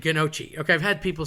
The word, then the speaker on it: gnocchi: A GN is kind of the equivalent of an enye in Spanish with the tilde. A plain N is an N, but an N with a squiggle, if you will, on top of it makes kind of like piñata, that kind of idea.